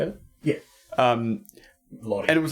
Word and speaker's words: Lodi: Lodi.